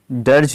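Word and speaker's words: dirge: है हमारा number 59 डर्ज means इसको प्रोनाउंस करते हैं डर्ज डर्ज मींस क्या होता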